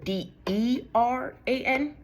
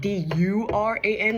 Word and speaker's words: Duran: See, I don't want to say Duran because I don't think that's correct, because it's Deran, not Duran, like Duran.